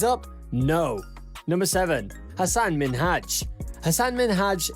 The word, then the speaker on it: Minhaj: saying his name wrong she kept mispronouncing minhaj as minaj and to be honest